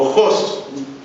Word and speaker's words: Hus: Bueno, el día que John Hus, o Hus, porque el apellido es Hus, porque viene de Josine, estuvimos averiguando y así es como se pronuncia.